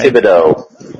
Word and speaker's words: Thibodeau: And then, of course, you throw in Thibodeau, or however you pronounce his stupid name. Thibodeau.